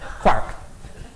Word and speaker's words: quark: So as both an Irishman, an Irish physicist, and a man called Mark, quark has to rhyme with Mark. And Mark in Irish is pronounced Mark, not Mark. So it's quark.